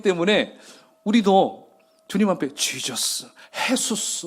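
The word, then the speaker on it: Jesús: 그리고 스페인어, 이 서반어 쪽으로 얘기하면 헤수스. J가 H 발음 나서 헤수스라고 합니다.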